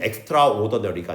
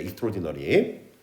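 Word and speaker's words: extraordinary: 대신 발음은 엑스트라오더니너리가 아니라 익스트오ord디라고 발음 주시면 돼. 익스트오ord디너리.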